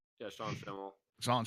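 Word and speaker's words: Schemmel: Because I really want to see Sean Schlemmel's did I say his name right? Yeah, Sean Schimmel. Sean Schimmel.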